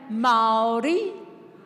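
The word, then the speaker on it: Māori: Can everyone say Mai? Yes. You've got to roll your Rs.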